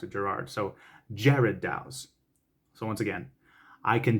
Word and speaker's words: Gerard Dou: from jared daus so it's almost like the name jared instead of gerrard so there you go and you know i had i had to find that out and i'm just like gerard douse it it throws off